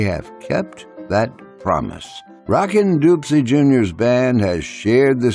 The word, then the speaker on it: Dopsie: now your host Paul Edward Leslie spoke with a legendary Rockin dupsy Junior now dupsy's pronounced the band many of you know is Rockin doopsy Jr and the zydigo